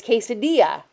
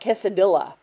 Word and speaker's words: quesadilla: Double L's are a Y sound. So it's quesadilla. It's not quesadilla. Anyway, and if you say it wrong, it's okay. You just don't know. But if you see double L's, it's a Y pronunciation.